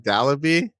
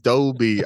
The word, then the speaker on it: Dolby: How did she How did she pronounce it though? Like Dolly or something like that. Or like Dalaby. Yeah. It doesn't sound right on Dalby.